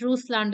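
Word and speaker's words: Russland: learn a little bit of Ruslan kind of but it's okay if you can you can call it Roost land as well not an issue so yeah you're all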